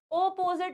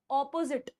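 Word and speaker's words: opposite: अपोजिट है अपोजिट है अपोजिट नहीं होता ऑपोजिट ऑपोजिट कैसे बोलोगे करेक्ट यह गलत है यह प्रोनंसिएशन गलत है सही क्या है ऑपोजिट अपोजिट य प्र पिट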